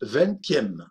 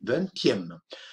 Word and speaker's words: vingtième: Fijamos, pronunciamos la T porque 20 termina en la letra escrita en una T y por tanto decimos vingtième, vingté, vingtième.